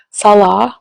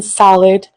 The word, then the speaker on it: Salah: They mispronounce my Syrian husband's name, Salah, which means prayer in Islam, by the way. They call him Salad right in her thumbnails.